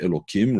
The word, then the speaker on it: Elokim: And we just pronounce it as if it's written with a kuf, Elokim, rather than with a hey.